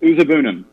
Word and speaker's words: Uzuegbunam: You had a big one, and I hope I'm pronouncing this right. Uzuegbunam, is that the name? We've been pronouncing it Uzuegbunam.